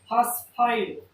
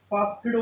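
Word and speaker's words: phosphido: या फिर इसे और ये उच्चारण जो है हिंदी में, इसे और दूसरे तरीके से फास्फिडो भी बोल देते।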